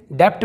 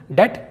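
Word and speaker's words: debt: तो कई लोग इसे डेप्ट पढ़ते हैं, जबकि ये होगा दोस्तों डेट, जिसका मतलब है कर्ज।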